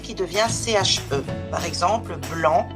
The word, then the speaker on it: blanc: Par exemple, blanc, on ne prononce pas le C à la fin.